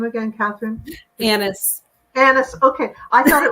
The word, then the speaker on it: Annis: all I really know so yeah it's Anis um and it's been mispronounced my whole life but I can promise